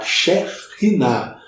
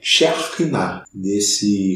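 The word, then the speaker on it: שכינה: e ela dizia que a pronúncia certa era Shekhinah, é um R aspirado que se chama. E ao que parece, segundo assim me contaram, tem no idioma, na fala, né, na língua alemã. Eu não falo alemão, então você, se confirmar aí, pode falar alguma coisa aí nos comentários. Mas a melhor pronúncia, então, é Shekhinah.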